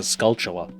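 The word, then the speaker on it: Skulltula: It's a scultula, which is super obvious in retrospect, but for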